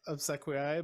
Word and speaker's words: Obsequiae: uh liturgical Latin difference yeah I say uh of Sequoia but it's it yeah Carl how do you